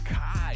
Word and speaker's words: KHY: Oh, KHY pronounced Kai.